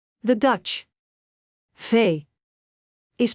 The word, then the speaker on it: V: Fay. A common mistake is confusing. Fay. with F. Make sure to pronounce Fay with a slight vibration of the lower lip against the upper teeth.